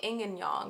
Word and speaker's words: yin and yang: In order to make, like, a full yin and yang symbol, yin and yang, yin and yang, because technically that's how you pronounce them.